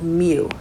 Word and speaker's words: mu: called x bar the population mean is called mu mu okay it's um it's like kind of a curse of me looking u but that's pronounced mu and that would be the average of the